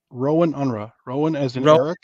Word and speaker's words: Rohan Unrau: never okay so how how is it pronounced rowan unra okay so in my